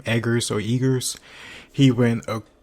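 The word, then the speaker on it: Eggers: the story and the direction the director Robert eagr I think that's how you pronounce his na name edar or eagr he went a crazy like completely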